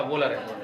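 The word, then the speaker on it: Wöhler: ठीक है, हिंदी में लिखता है वोलर, इसे पढ़ते प्रोनाउंसिएशन क्या है इसका, वोलर है ना।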